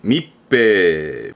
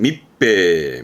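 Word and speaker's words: 密閉: 그럼 밀폐면은 미츠해냐? 그게 아니라 아시죠? 츠 다음에 하히후해오 들어오게 되면 발음의 변형이 생긴다라는 거. 그러면서 밑배 이런 변형의 있음도 체크를 한번 해주셔야죠. 그래서 밀폐는 밑배, 밑배.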